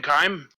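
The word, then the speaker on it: Khyme: much back over it uh in where in chime the the capital city i'm how do you spell that one it's k-h-y-m-e this is more to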